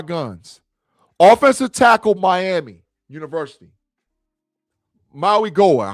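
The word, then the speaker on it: Mauigoa: Maui Goa. How you pronounce his name? Maagoa.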